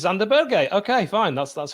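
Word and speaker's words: Sander Berge: joining the podcast yeah uh mikhail is saying that that's correct it is it's xander berger okay fine that's that's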